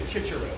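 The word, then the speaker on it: Cicero: Will you accept ecclesiastical pronunciation? Yes. I believe that is something I have to do by rules. So yes, I will be. It's a good question. So you say Chichero, I would take that instead of Kikero.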